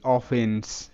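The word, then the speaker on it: offence: তো এখানে ও আছে, ও এর শর্ট সাউন্ড অ হবে। ডাবল এফ আছে, তো একটির জাস্ট সাউন্ড হবে এফ তে ফ। ই এর শর্ট সাউন্ড এ, এন তে ন, সি তে স, লাস্ট ই সাইলেন্ট। তো অ ফ এ ন স। এখানে এর যে সাউন্ড সেটা হবে কি অফেন্স, যে অ ফ এ, অফে নয় স যুক্তবর্ণ হবে অফেন্স, অফেন্স।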